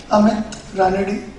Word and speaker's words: Ranade: Being in Maharashtra, my name is Amit Ranade. Various times it happens that it has been pronounced as with various different names.